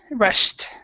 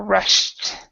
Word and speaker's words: rushed: so there's no so forget that there's an e there at all so the the teacher rushed so you can for example this is a Russ a rough pronunciation you can say rushed Rush rushed perfect rushed yeah okay and